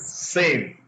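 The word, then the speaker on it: SIEM: So we developed the community developed a solution called security information and event management pronounced as SIM which is the short form S I E.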